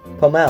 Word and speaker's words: Pommel: You pronounced it correctly. Pomel.